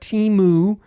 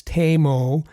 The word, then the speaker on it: Teemu: Teemu Selanne, and yes, as if we're pronouncing names correct, it's not Timu, it's Teemu Selanne, Teppo Numminen, ultimate gentleman, and Saku Koivu, incredible, gentle man, and had the pleasure of speaking to him.